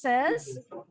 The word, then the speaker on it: son: Number 7, your dad is your grandparents' son. Yes, bacanya A. Son, kayak matahari.